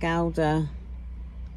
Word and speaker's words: Gouda: It's got parmesan, I think it is, and Gouda.